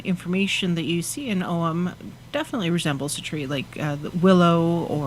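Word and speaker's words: Ogham: om means is or it's spelled o g h a m and it's pronounced om and it's the it's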